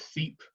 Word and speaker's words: SEEP: sudden southern economic advancement project affectionately known as seep we pronounce their acronym you know they amplify the